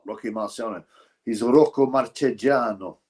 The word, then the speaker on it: Marchegiano: change their names to make it easily more pronounceable. Like Rocky Marciano is not Rocky Marciano. He's Rocco Marchegiano. Rocco Marchegiano.